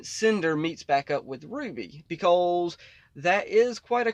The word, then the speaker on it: RWBY: the way up to rwby ruby depends on who you are and how you pronounce it but yes ruby yes that's how it's pronounced i know y'all know